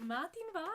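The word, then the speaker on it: madainn mhath: So matin va is how you say good morning, and then perhaps then you could ask someone Kimura how.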